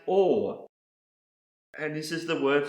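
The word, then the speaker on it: עור: The next word I want to show you that starts with the letter I and is pronounced or.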